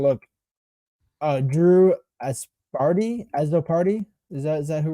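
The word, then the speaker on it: Azzopardi: cannot yeah so for the pronunciation guide is a z z o p a r d i so um yeah that that that's how we pronounce that one yeah yeah um but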